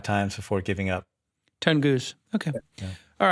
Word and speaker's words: Tunguz: And back on the program, Tunguz. Am I pronouncing it correct? Close enough. Thanks for having me back on the show, Jason. Give us the exact pronunciation. It's Tunguz.